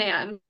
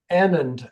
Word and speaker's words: Annand: Or is it And Anand? Annand, actually, accent on the Annand? first.